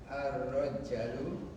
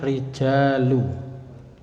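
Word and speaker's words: الرجال: Man haula'i ar-rajalu. Ada alifnya, Pak. Jadi bacanya rijalu.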